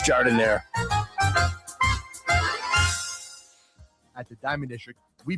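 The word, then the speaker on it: giardiniera: And guys, when you're at the counter, don't call it Gardinia. It's pronounced jardinire.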